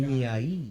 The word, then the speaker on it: Genii: But welcome to the Odd Genie podcast. Oh, Shit. it's not even genie. It's pronounced genie. Genii.